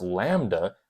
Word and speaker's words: lambda: or any sort of class wave the wavelength pronounce Lambda which is this kind of fancier symbol where